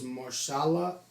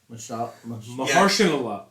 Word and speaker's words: Mahershala: I believe his name is Marshala Allah, if I'm not mistaken. How do you pronounce that?